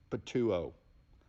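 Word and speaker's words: πτύω: Interestingly, this might be of note, the Greek verb for spit is literally pronounced, from an English transliteration and pronunciation, patuo.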